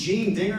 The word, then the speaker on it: Gene Dinger: BAP to overcome right yeah my name is Jean digger and I say that because I would prefer